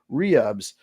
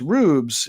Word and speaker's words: Rubes: the name wrong so I actually asked him specifically is it Rubes or rubs and uh he said it's Rubes and it's you it's